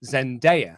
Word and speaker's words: Zendaya: It's a virtual Zoom thing, and they mention her name, Zendaya. And I was like, oh no, I've been saying it wrong in my head.